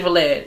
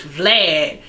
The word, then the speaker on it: Vlad: name wrong some people somebody went under my post and said oh you pronounce his name wrong it's vlad okay so dj vlad